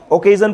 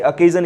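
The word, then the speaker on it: occasion: So that was द ऐसे कुछ words हमने नीचे लिखे हुए हैं, जैसे अकेजन, ओकेजन पढ़ते लोग इसे, अकेजन इज the correct pronunciation.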